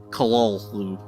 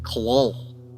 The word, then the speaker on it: Cthulhu: taken as something like Cthulhu, with the first syllable pronounced gutturally and very thickly. The U is about like that in full, and the first syllable is not unlike Cthulhu in sound, hence the H represents the guttural thickness.